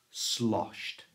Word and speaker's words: sloshed: to say this correctly the Ed at the end is pronounced with a t sound slos to find out